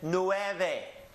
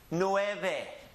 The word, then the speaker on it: nueve: easy one read it or Cho and then Nueve Nueve two syllables the first syllable is nowhere and the last syllable is back Lou back Nueve and again most people that are living in